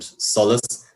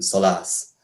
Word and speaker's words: solas: don't notice this but the default in all dialects is for the main stress in words to fall on the first syllable so we say things like uh doris and solas and we don't say doras and solas and generally speaking there